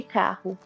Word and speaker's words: carro: a palavra caro e carro. Exato. Se os dois Rs não forem de fato pronunciados, vai sair caro no sentido de o preço do valor das coisas.